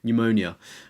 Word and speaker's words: pneumonia: even say it now pneumonia like it's like a silent PE isn't it did you